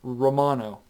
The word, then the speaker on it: Romano: i'm very familiar with i would say jordan romano that's how you say his name but he